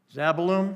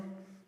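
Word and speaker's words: Zebulun: Give it a shot, somebody. Zabalum. Zebulon. Zebulon. Thank you very much.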